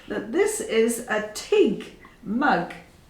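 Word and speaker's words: tyg: that this is a TIG mug T YG pronounced TIG and this is an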